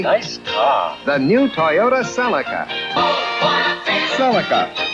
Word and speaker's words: Celica: The new Toyota Celica. Celica. This is my 2001 Toyota Celica, or Celica, however you want to say it.